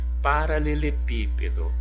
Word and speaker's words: paralelepípedo: em aí paralelepípedo paralelepípedo Olha o pe Qual é a sílaba mais forte essa palavra Então ela é o que a sílaba tônica e agora que posição está a sílaba tônica nessa palavra foi a última mudou não foi o p não foi o pe está na posição de antepenúltima Então essa palavrinha ela é o que uma proparoxítona do lado lógica lógica